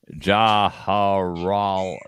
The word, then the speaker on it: Jawaharlal: Jawaharlal.